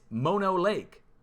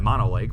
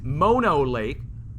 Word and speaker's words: Mono Lake: sure now going up to the border it's mono lake which i've been mispronouncing for the last 20 years i've been calling it mono lake but it's mono lake and it's rising pahoa island out of the